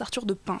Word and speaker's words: Arthur de Pins: entendu prononcer son prénom ça se prononce arthur de pins s'il pense que si